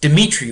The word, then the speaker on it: Dmitri: So in the 1860s, Dmitri was his first name, that's how you pronounce it.